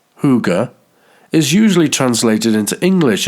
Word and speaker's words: hygge: The Danish word, pronounced hygge, is usually translated into English as cosiness.